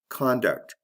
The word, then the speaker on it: conduct: Conduct, conduct. Did you hear that? There's a difference in the vowel in the first syllable. Con and kun.